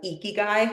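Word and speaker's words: ikigai: of those categories that's the Japanese concept of eeky which means reason to be why you're here that's spelled i k i g AI we have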